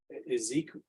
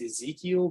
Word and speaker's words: Esequiel: There's to be no contact with Tiffany, Tiffani, Aries, Ayres, Wayne McClintock, Esquivel, is it Esquivel? It's spelled in an unusual way, Judge. So I think maybe Ezekiel, it's Ezekiel, but just spelled in an unusual All way.